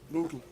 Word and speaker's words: Bootle: Is that not how you pronounce it? Bootle? Yeah, Bootle.